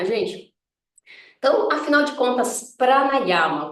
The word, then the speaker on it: pranayama: e prática tá então pranayama afinal de contas o que que é pranayama tá então no sânscrito gente a gente pronuncia as palavras sempre com os as abertos tá a gente não